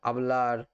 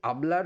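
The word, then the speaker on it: hablo: এবার আর এন্ডিংয়ের যেসব ভার্ব, যেমন আবলার, সোপলার, গানার, এরকম। তো এই আবলার ভার্বের যেটা মানে কনজুগেশন সেটা আমরা দেখে নিচ্ছি। ইয়ো আবলো, ইয়ো আবলো, এইচ কিন্তু সাইলেন্ট, তার মানে আমি বলি।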